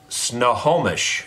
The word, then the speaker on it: Snohomish: Snohomish is how I would pronounce it, Washington.